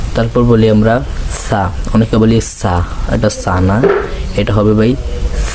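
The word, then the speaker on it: ثَ: দাঁতের আগার সঙ্গে লাগাবেন আপনার জিহ্বার আগা উপরের দুই দাঁতের আগার সঙ্গে লাগান সা দেখেন উচ্চারণটা আগা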